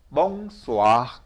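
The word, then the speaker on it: bonsoir: 프랑스에서 oi 다시 말씀드리면은 프랑스어로 읽으면은 항상 와요 와 와 오이 오이 이렇게 발음하는게 아니라 오 자하고 아이 자하고 하면은 와로 바로 나 이렇게 알아주시면 돼요 거기다가 s는 쌍시옷이에요 그러니까 어떻게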